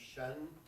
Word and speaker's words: sean: S-E-A-N in Irish is pronounced shen, and it means old.